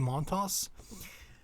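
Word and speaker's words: Montas: monta by the way it's pronounced um the s was like saying it you pronounce it frankie montos so we're gonna have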